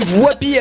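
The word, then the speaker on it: Woippy: On dit Voipy alors.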